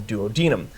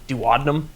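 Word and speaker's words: duodenum: And this part of the small intestine is called the duodinum. Now sometimes people will pronounce it dadnum and I actually used to purposely pronounce it as dadnum because I had a coworker who hated that pronunciation.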